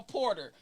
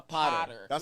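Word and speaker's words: Poter: Everybody thinks I'm a porter, but I'm a potter. Like potter.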